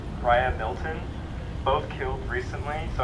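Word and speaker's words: Riah: And then we have, I haven't heard this out loud, so I'm just gonna guess how I think it's pronounced. Raya, that's R-I-A-H, Raya Milton.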